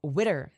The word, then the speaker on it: Zwitter: yeah I don't know zwitter the ex is silent oh Witter okay I see um Britney